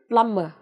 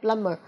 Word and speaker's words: plumber: Từ tiếp theo là một danh từ chỉ nghề nghiệp, plumber, okay, plumber. Âm B này bị câm nhé, B is silent.